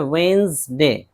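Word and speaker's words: Wednesday: इसी तरह वेंसडे, वेंसडे, British तलफ़ुज़ में असल है वेंसडे, बुध।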